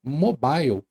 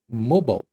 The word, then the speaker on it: mobile: Ah, e por falar nisso, a palavra que eu pronunciei errado lá no começo foi a palavra mobile. A forma correta de pronunciar esse termo é mobile.